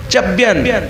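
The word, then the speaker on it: च्यवन: ऋषि अब नाम सुनिए चयन अब उसको उच्चारण में आधा च य व न है अब उसको जिस तरह से उच्चारित करना हो कर लीजिए कुछ लोग आधा व मानते हैं कुछ लोग पूरा व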